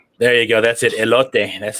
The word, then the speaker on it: elote: Elote.